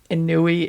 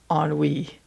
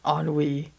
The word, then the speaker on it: Ennui: Okay, first of all, it's not Inui, it's Ennui. That's how you pronounce it, Ennui.